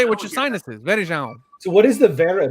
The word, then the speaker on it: Varejão: Babe, is Varejão. Verejão. Varejão. Yeah, you gotta say it with your nose. Yes, Varejão. You speak Spanish. You have the You gotta say it with your sinuses. Varejão.